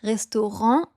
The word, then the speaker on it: restaurant: French word c'est un mot français donc on prononce restaurant avec un silent tea évidemment step number 5